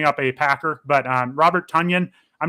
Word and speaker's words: Tonyan: Yeah, Tonyan rhymes with Funyun.